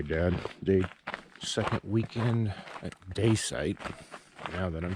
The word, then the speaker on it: Dacite: Okay, Dad, the second weekend at Dacite, now that I'm pronouncing it correctly, we're going to try to